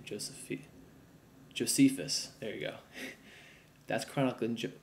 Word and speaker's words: Josephus: Jose Jose how you say his name Joseph Josephus there you go that's chronicl Joseph Josephus is